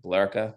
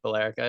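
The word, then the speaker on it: Billerica: how you say it blera no that's not even remotely close it's I thought we could get it right it's b r but it it has felt like belerica in your defense but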